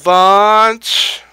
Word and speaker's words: launch: Wait for it to launch. Come on now, you can do it, you can do it. Launch. Rhymes with lunch.